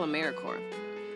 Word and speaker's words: AmeriCorps: make that same mistake americorps is alive and well just spelled with a silent p so think of apple core or core of the earth now that we have